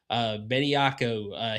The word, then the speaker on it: Bediako: Bediako.